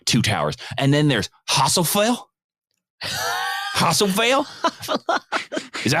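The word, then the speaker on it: Hasufel: And then there's Hasselfell. Hasselfell? Is that how you say it? How do you say it? Haffalas.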